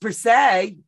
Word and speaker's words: per se: Dawn it is near Watson subscribed yay it's pronounced per se I do say that